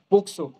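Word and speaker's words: POCSO: कायद्या संदर्भात आपण थोडक्यात माहिती घेणार आहोत नक्की पोक्सो काय आहे पोक्सो भरपूर जणांनी ऐकलं असेल पोक्सो प्रोटेक्शनल कायदा अधिनियम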